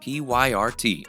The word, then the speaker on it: PYRT: promoting on Tick Tock he calls it pyrt which is pronounced pirate and is something he's